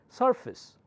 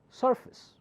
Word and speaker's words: surface: I okay it happens surface a takes the sound of it surface right a preface of